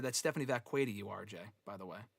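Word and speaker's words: Vaquer: and when she was last in the um and Richie said that's Stephanie Vqua you RJ by the way as Nikki Bella said a couple weeks ago on Raw.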